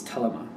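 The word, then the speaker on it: Thelema: For the main read, I'm going to use the Telema? No, wait a minute. Somebody sent me an email how to say this right way. I think it's Telema? Telema Tarot? I think the H is silent.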